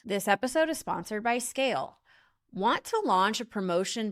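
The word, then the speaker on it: Scayle: Brands like Herods, Manchester United, and Snipes trust Scale to power their business. So why are you still suffering? So visit scale today. That's s c a y l e. Yes, the y is silent because you never have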